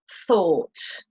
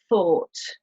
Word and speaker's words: thought: look for something, and thought, from the verb think. Bought, brought, fought, sought, thought. So you don't pronounce the G sound at all.